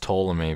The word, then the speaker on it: Ptolemy: And Constellar Ptolemy, I'm pretty sure his name is pronounced Ptolemy because that was the way you pronounce the scientist. You know, the guy who thought that the universe or the solar system was geocentric. Pretty sure his name was pronounced Ptolemy.